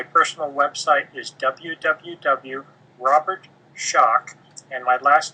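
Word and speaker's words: Schoch: my website my personal website is www Robert shock and my last name is spelled SC H O C so it's r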